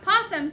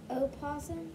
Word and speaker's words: opossum: Not possums, but... Say possums, but there's a long O at the beginning. Opossum.